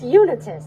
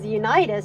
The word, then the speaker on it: Unitus: been saying it wrong it's Unitus okay I thought it was unitis because it looks like unite except without the e instead replaced with an a the next morning mhm